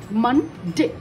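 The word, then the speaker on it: Monday: अभी फिर देखो मंडे, मन डे, ड ए डे, मन, मह, मह मतलब एम. ये है अ साउंड हो रहा है, बट इसमें ट्रिक है कि यहाँ पर स्पेलिंग होगा ओ, मन, एन होगा, तो फिर हो गया मंडे.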